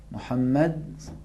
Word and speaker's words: محمد: وہ کون سے تھے محمد ہادی آپ بتائیں. ہا اور عین. ہا کہاں سے تلفظ ہوتا ہے؟ ہا تلفظ کریں. ہا. محمد، محمد، محمود، محمود، حامد.